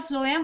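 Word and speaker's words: phloem: तो एफ फॉर फ्लोएम, और F means कि नॉर्मली तो पी फॉर फ्लोएम होता है, लेकिन प्रोनाउंसिएशन के थ्रू हम एफ फॉर फ्लोएम बोल रहे हैं ना, फ्लोएम, और एफ फॉर फूड।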